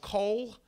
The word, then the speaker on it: kohl: A heavy, dark makeup called kohl. I'm not preaching against kohls. It's spelled the same way, K-O-H-L.